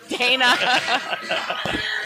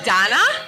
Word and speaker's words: Dana: Dana. Do people pronounce your name like Donna? Uh yes, mostly Hispanic uh speaking people. Okay. That's that's their natural go-to.